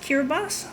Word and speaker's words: Kiribati: karabast Kiribati it sounds it's spell Kiribati but I think it's pronounced cure bus my dad used to